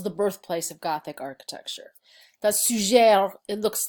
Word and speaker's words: Suger: "Suger," it looks like "sugar"--yes, I'm from Chicago; I was born there, so sometimes I'll fall into a Chicago pronunciation, that's okay-- looks like sugar, but it's Suger.